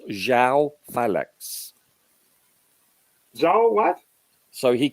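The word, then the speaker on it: João Félix: approach by the way his name is pronounced Zhao phallux is all what so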